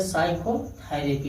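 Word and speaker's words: psychotherapy: इसे देखिए पी यस से पहले आया है हाई पी, साइकोलॉजी पढ़ा जाता है, इसे साइकोलॉजी। यस से पहले आया पी, इसको क्या पढ़े साइकोथेरेपी पढ़ा जाता है।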